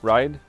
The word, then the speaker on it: Ray: So the two taxi apps that I use, one is called InDriver and the other is called Ride. It's spelled Ray, R-A-Y.